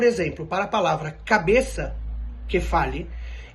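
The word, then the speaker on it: κεφάλι: Então, por exemplo, para a palavra cabeça, kefali, existem alguns lugares, sobretudo algumas ilhas, que pronunciam, como Creta, que se pronuncia cefali.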